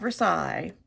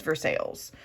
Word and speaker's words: Versailles: It's not Versailles. No, friends. It is Versailles.